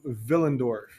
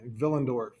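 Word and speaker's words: Willendorf: going to go to vill andorf spelled with a W pronounced with a v vill andorf here is the archaeological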